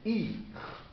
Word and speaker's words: ihr: Par contre, il au pluriel quand c'est informel, c'est ir.